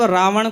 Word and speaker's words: रावण: कहते हैं रावण रावण कुछ लोगों का क्या हो उच्चारण ण का ना हो पाता तो ण की जगह वो न का उच्चारण कर देते है जी तो ये